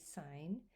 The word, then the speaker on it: sign: And of course, in this case, the G is silent.